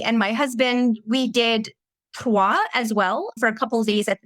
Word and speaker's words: Troyes: And congratulations for saying it right, by the way, because it's Troyes. Yeah. And you knew to say Troyes and not Troyes.